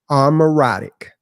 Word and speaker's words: Amaurotic: Armoratic. Okay. Okay. And you know and pronounce it.